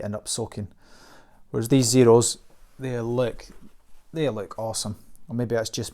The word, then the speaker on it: Xero: you just go to zero calm spelt with an X so exci are all